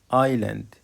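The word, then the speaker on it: island: زي او ملابس ايلاند اييلاند جزيره وكلمه اييلاند الاس سايلنت لا تنطق فيروز فيروز فيروز فيروز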